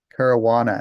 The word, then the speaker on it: Caruana: Caruana. And I've met him before in person, but I'm not good with pronunciations.